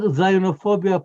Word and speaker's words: Zionophobia: This is part of, that's why the word Zionophobia put everything into context. And it rhymes with Islamophobia on purpose.